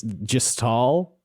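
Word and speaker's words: Jhistal: I do just want to say it's Jahastal, I believe, Yeah, not Josh, Jahastal.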